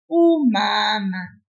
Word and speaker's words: umama: For example, the word umama is a mother. Listen to how I say it. Umama. U-ma-ma. I pull that first M-A a little bit, but I didn't pull the other M-A.